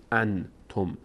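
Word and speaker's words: أنتم: میشه در بینی صداش در هنگام تلفظ انتم نباید بگیم انتم میگیم ان انتم صدا از بینی خارج میشه و انتم انتم انتم تنق نون اینجا هم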